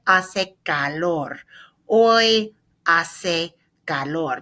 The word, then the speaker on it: hace: Hoy hace calor. Hoy hace calor. Remember our silent H on hoy, silent H on hace, calor.